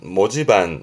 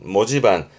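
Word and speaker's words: 文字盤: 발음은 모지반, 모지반.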